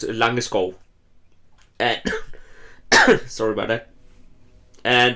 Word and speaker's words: Langeskov: know and in this this is pronounced illunga skull and sorry about that